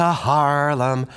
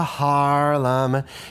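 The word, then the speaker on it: Haarlem: now I've Been to Harlem did you notice that the word is spelled a little weird h a a r l e m Harlem is a city in Holland and actually one of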